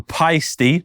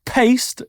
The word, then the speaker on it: Paiste: of symbol Brands so this is the pisty not paste the pisty 101 universal symbol